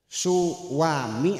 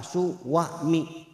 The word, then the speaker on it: suami: Suami apa? Suami ada W-nya enggak? Ada enggak ya? Su su a mi apa su wa mi? Sekalipun tidak ada w-nya suami ami dibacanya suami tetap aja.